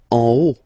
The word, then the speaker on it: en haut: En haut, en haut. Okay, final T not pronounced, and then this H as previously, you don't pronounce it, so this is O.